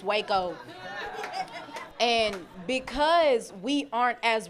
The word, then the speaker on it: Waco: I thought it was called Wacko, but apparently it's Waco.